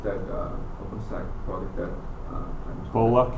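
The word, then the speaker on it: Kolla: pronounced that uh open Cola k o l l a k o l a yeah so in Boston we would say colar okay would sayic who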